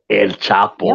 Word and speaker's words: El Chapo: That's how you say it. El Chapo. Yep. Like a Chicano.